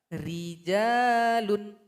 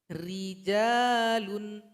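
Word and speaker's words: رجال: Yang pertama ketika ro berharokat kasroh, ri. Contohnya rijalun, rijalun.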